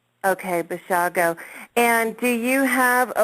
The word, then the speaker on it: Basiago: It's pronounced Basiago, like Chicago. Okay, Basiago.